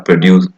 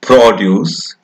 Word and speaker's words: produce: word, different syllables are produced with different accent. For example, produce has a stress on the first syllable, while produce has a stress on the second syllable.